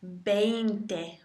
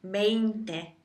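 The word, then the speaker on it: veinte: And then finally you have 20, which is just 20, 20, 20. It's spelt with a V, but pronounced as a soft B.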